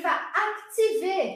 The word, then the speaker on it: vas: Aparece o S aqui, ó, ele não é pronunciado, a gente vai ver isso na aula de amanhã. Tu vas ativar.